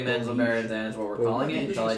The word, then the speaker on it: Menzoberranzan: Welcome to the city of I've always said it as Menzoberranzan. Just 100% phonetic.